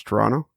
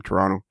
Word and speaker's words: Toronto: know how to pronounce toronto yeah the second t is silent never pronounce the second t if you want people from toronto to know that you're not from toronto pronounce the second t